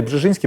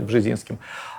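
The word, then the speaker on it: Brzeziński: Бжезинский, да, его произносят. Да. Может, поляки и Бжезинский произносят, но у нас его традиционно называли Бжезинским.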